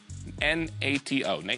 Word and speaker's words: NATO: So, NATO, N-A-T-O, NATO, that's how you say it, I think, is the correct answer.